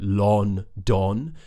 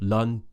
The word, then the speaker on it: London: I hear are either London when people pronounce it more how it's spelled with the O's right Lon that's incorrect the other one is Landon and that's often because they don't know how to pronounce the uh sound like in butts now I've done a lesson on this sound already but essentially it's the schwar sound which is uh like in about or Lun that's what happens at